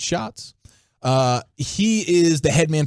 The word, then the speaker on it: Schatz: But then today, Aaron Schatz, spelled like Schatz, but pronounced like Shots. I always thought it was Schatz. I know, I did too, until I heard him say it for himself. And I was like, okay, it's Shots.